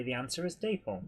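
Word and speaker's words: Dapol: says is deole pronounced day Poole or dap as in apple Paul um apparently both pronunciations are okay but it it was originally a contraction of David and Polly doy Bo I think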